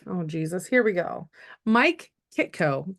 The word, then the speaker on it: Mike Kitko: Jesus here we go Mike Kito correct am I saying it right you did all right perfect now he has